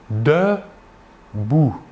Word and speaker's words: debout: Par contre, en début d'un mot, le E caduc dans le registre standard se prononcera. Nous dirons par exemple debout.